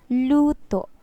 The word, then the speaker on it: luto: at the end cooked but if we pronounce it like luto it's cook that's correct so if we